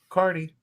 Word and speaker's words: Kearney: So being from Nebraska, so you live in Kearney? Is that how that's pronounced? Kearney? Yep, like a carnival person. Kearney.